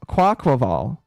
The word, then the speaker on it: Quaquaval: Quaquaval. I think that's how you say that. That is I never pronounced that one correctly.